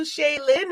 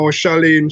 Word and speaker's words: Shaleen: Well, you know, actually, her name is Shaleen. Not Shaleen. How would you pronounce it? Shaleen. Oh, Shaleen. Yeah. Like Sha, and then you lean to the side like that.